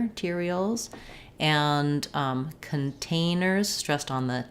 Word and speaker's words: materials: grade syllable gradable biodegradable materials stressed on the t syllable tear materials and containers stressed on